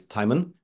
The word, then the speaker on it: Timon: the real name is Timon just like Simon pronounced the same way people pronounce it in